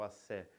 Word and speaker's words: axé: profundo com aé né Essa palavra que não se pronuncia com x lá mas é o assé que significa a energia Vital